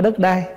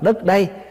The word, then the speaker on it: đất đây: đất ở đây nè chứ không phải đất đai mình nói riết nó thành trại thành cái chữ đất đai chứ Đúng ra là mình phải đọc là đất đây tức là đất này chúng ta đang ở